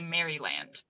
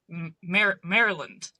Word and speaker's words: Maryland: I would say Maryland because that is how it is spelled. Yeah, sure. Yeah, but it's pronounced Let's see if I get this right. Mer Maryland.